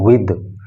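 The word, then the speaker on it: with: ये विद है तो इसको आपको बिद नहीं बोलना है, इसको बोलना है आपको विद।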